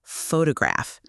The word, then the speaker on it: photograph: The word photograph, Photograph, but photographer, photographer, and photographic, photographic. Same root word, completely different stress patterns.